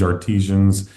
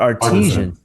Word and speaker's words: artisan: Wait, is it artisan or artesian? New Age Artisans. Okay, all right. I guess you could say it either way. Yeah, I guess it can be pronounced either way.